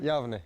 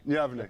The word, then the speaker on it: Yavne: No, how do you pronounce where you're from again? Yavne. Yavne.